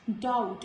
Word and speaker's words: doubt: Doubt, and in all these words letter B is again silent before letter T.